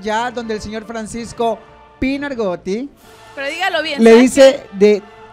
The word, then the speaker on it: Pinoargotti: se volvió viral ya donde el señor Francisco Pinargotti...